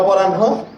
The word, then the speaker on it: অপরাহ্ন: এটা অপরাহ্ন, এটা পূর্বাহ্ন, দন্ত নয় হয়ের মতো উচ্চারণ, যদিও ন পরে আছে, কিন্তু আমাদের মানে কি যে বলে বানান করতে হয় পূর্বাহ্ন, মধ্যাহ্ন, অপরাহ্ন, সায়াহ্ন।